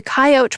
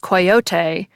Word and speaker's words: coyote: of Webster's original dictionary, shows 2 pronunciations, with the coyote pronunciation first. But Webster's 1913 unabridged dictionary flips that around and shows the 3-syllable pronunciation first, likely pronounced coyote, and then also appears to include an alternative 2-syllable pronunciation.